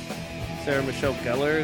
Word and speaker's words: Sarah Michelle Gellar: Sarah Michelle Gellar, is that how you say her name?